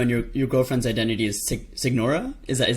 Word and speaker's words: Signora: That's awesome, and I love it because I think it's Salvino, and your girlfriend's identity is Signora. Is that how you say it? Senora, yeah.